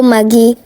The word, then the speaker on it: Maggi: are making jokes on how I pronounce my Maggi I'm not sorry but that's how we pronounce it here in Nigeria it's called Magie so I'm done with